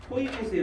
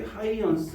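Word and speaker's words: Huygens: 페이지 봅시다 거기서 66페이지 호이겐스의 원리 하이언스 뭐 이게 발음하기도 하고요 호이스 원리 발음하기도 하는데 파동이 전파될 때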